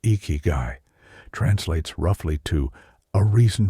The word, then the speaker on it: Ikigai: Ikigai, pronounced Ikigai, translates roughly to a reason for being, or the reason you wake up in the morning.